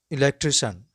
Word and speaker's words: electrician: The words end with CIAN are pronounced shun, not CN. Let's go on with some examples. Electrician, electrician, beautician, beautician, technician,